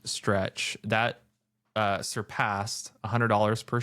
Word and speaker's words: STRC: So, first their their STRC, which yeah, I think is pronounced stretch that uh surpassed $100 per share.